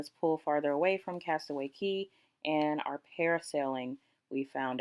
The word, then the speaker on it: Cay: Just FYI in this video, I'm going back and forth between Castaway Cay and Cay. It's Cay, but like, spelled like K.